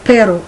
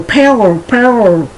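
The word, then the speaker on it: perro: In the beginning, when you're trying to pronounce P-E-R-O, pero, no problem. But when you have to pronounce P-E-R-R-O, many English speakers go pero, trying to do their tongue.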